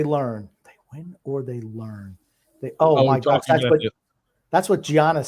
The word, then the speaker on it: Giannis: It's Giannis. I would call him Giannis. Like it's a Y. Giannis.